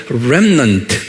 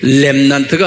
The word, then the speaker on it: remnant: 한 가지 알 것은 남은 자, 영어로는 remnant 이렇게만 알아두세요. 렘난트가 아니에요. R에 R 그러니까 rem 이렇게 발음해요.